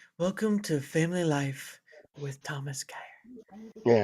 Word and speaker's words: Geyer: It looks like it says guy there, not gay or like geyser.